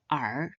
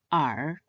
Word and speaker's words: 耳: It is pronounced in the third tone R. R.